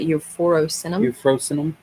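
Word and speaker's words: euphrosynum: How do you say that word? Almost like euphoria, but euphorosinum.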